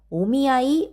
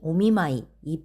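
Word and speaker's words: お見合い: 그리고 오미아이 오미마이이 발음 차이를 좀 잘 실수를 해서 많이 좀 얼굴이 확끈걸렸던 적이 있었거든요. 그래서 여러분들도 연습하실 때 여기 소개팅은 오미 아이 확실히 연습해 주시면 좋겠고요.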